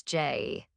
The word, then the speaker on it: Jai: Jai, he corrects, pronouncing his own name as Jay.